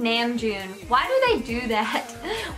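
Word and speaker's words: Namjoon: and like he said nan Joon why do they do that why would they speak in English do they have to say it like it with bad American pronunciation like NAMM Jun I don't know why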